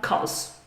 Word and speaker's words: because: And final word, because, because. In spoken English, you'll often hear it shortened and it will become cos. Cos. So it's not the best way of saying this, but it's very common.